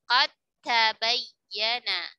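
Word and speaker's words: قد تبين: Di sini juga diidghamkan sempurna. Maka qad tabayyana dibacanya qad tabayyana.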